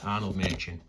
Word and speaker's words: Arnold Machin: So there we go, Arnold Machin. That's how that's pronounced, Arnold Machin.